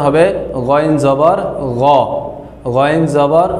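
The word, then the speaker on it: غَ: তারপরে আমাদের যে হরফটি রয়েছে সে হরফটি হচ্ছে গইন। এই গইনকে যখন আমরা জবর দিয়ে উচ্চারণ করব তখন উচ্চারণ হবে গইন জবর গ, গইন জবর গ।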